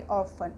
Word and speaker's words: often: OFTEN, ऑफन, इसको हम ऑफ्टन नहीं बोलेंगे, इसको हम बोलेंगे ऑफन।